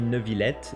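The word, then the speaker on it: Neuvillette: be no villette because the name is made of two different words is the combination of two different words new and city which city in French is pronounced veal so that's why the final word is going to be a no for new and villette or Vil and we actually have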